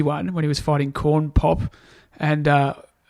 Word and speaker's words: Corn Pop: when he was fighting corn pop and uh call pop's right isn't it corn pop is correct all right put respect